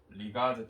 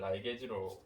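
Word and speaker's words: ligase: 중합효소도 폴리머레이즈라 하실 거고 리가제 또는 라이게즈로 발음하실 겁니다.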